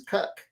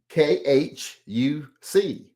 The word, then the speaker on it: Khuc: And I don't want to say it the way it looks because it looks like its last name is Cuck. It's Khuc. That sounds like that to be pronounced Cuck.